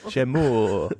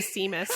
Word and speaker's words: Seamus: Here in America, where we don't understand pronunciations of things, they would call him Seamus. That's what I was going to say, because I definitely pronounced his name that way when I was first reading the books.